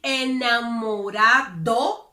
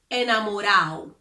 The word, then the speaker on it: enamorado: When the letter D appears between two vowels, Dominicans generally do not pronounce it. For example, when they want to say enamorado, which means in love, instead of saying enamorado with a D, they would say enamorado, enamorado. Or, for example, if they